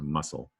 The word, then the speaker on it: muscle: looking in a second, down in muscle, there's a silent E at the end. So I'm just going to take that away. You don't say, it's silent. You don't hear it. So muscle.